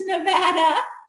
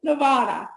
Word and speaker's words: Nevada: But here where I live right now, people often say Nevada. Now, at home, they would get booed off the stage. Like, say it right. We got sheep. It's Nevada. Do not say Nevada, okay?